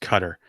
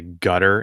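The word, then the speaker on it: Qatar: though Lord Drago says wants to tell us that guitars actually pronounced cutter I do remember that from the when we first invaded Iraq Tom Brokaw would say gutter in his who got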